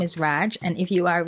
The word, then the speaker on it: Radw: discount code is raj that is radw yes it's pronounced raj that's my name so